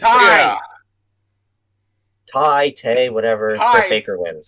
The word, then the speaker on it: Tay: Britt Baker takes on Ty Baker. Yeah, Britt Baker. Yeah. I do hope that Tay gets a good match out of this, but it's Ty, whatever.